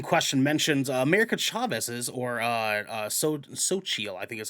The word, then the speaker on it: Xochitl: This scene in question mentions America Chavez's or Xochitl, I think is how it's pronounced, if I remember correctly, Xochitl Gomez, their lesbian parents.